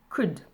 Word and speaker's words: could: Pour la prononciation, on n'entend pas le L, could.